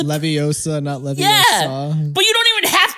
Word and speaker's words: Leviosa: little little uh Hermione is like Ron you're pronouncing it wrong it's Leviosa but you don't even have to pronounce you